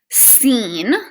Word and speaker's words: scene: c so in like in the word scene like a scene from a movie the c is silent and it's just going